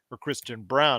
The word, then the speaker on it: Braun: picked in the 20s, Christian Brown, I should say. It's spelled like Braun.